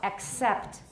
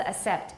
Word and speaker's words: accept: And 接受, accept. 不是 accept, it's accept.